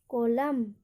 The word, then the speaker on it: column: जैसे एग्जाम्पल देखिए, COLUMN। यहाँ पर देखिए लास्ट में क्या आ रहा है? MN। तो इसको हम इसमें क्या होगा? न का एन का उच्चारण नहीं होगा। इसको क्या पढ़ेंगे हम? कोलम।